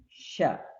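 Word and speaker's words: ش: Yang kelima adalah sya, sya, sya, bukan sa tapi sya, sya, sya, sya, sya, sya, sya.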